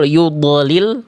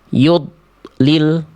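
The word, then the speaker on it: يضلل: Yudlil, akhirnya teman-teman melafalkan dnya gini. Yud lil. Yud lil. Bagus dnya enggak mantul tapi enggak bagus kalau dnya terputus.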